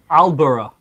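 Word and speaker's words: Aldeburgh: The D is silent? Apparently. I think it's like you would barely hear it, and so then it just got dropped. Just swallowed that whole consonant? Yeah, D's and T's are fragile.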